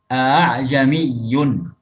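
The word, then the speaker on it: أأعجمي: La yusahilu hafsun hamzatal qat'i illa fi kalimati a'jamiyyun. Imam Hafiz tidaklah mentashil hamzah qata kecuali pada satu kalimat saja, yaitu a'jami fil ayah yang terdapat pada surat Fussilat ayat 44.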